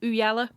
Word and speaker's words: Ooyala: Everyone out there, Ooyala, it's how you pronounce it with the British accent, People Ooyala.